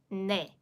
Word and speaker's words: 네: 네, 네, 네. Yes. Whereas 대, 대, 대. Okay? 네, 네, 네. So as for this nian, you'll need that initial n, the nasal sound, n sound, 네, 네.